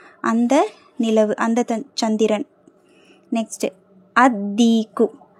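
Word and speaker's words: الديك: next அதிக்கு அதிக்கு லாம் உச்சரிக்கப்படக்கூடாது ஏன்னா தாங்கற தால்ங்கிறது ஷம்சியாவுடைய எழுத்து அதீக்கு அந்த சேவல் த ரூஸ்டர்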